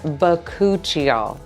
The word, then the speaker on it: bakuchiol: Let's start with the basics because most people can't even pronounce this ingredient correctly. It's called bakuchiol and it comes from the